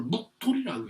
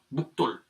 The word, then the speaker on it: 묵돌: 씁니다 이제 그런데 이걸요 사람의 이름의 경우에는 요걸 묵돌이라고 읽어요 묵돌 묵돌이라고 읽으니까 여기 주에